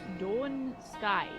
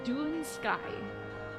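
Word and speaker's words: Dún Scáith: According to an Irish person on Reddit, it's pronounced Dawn Sky. You arrived just in time. Well, actually, oh thank God, it's Dune Sky. Source: I'm Scottish and I speak Gaelic.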